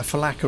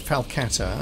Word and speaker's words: falcata: us around here yeah I've been pronouncing the name of this weapon wrong falata yeah I've been calling it a faka all this time it's a falcata okay yeah that was